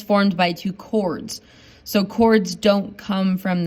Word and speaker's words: chord: want to pronounce that chord it's not a chord it's a chord you don't pronounce the h it's a segment inside